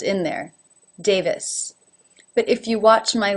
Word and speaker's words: Davis: brown brown number 6 Davis Davis has a second syllable this that begins with the V sound now when an unaccented